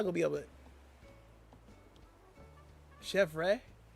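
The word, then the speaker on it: Chèvre: Chef Ray. Chev Ray first like Chevy, but Ray is at the end.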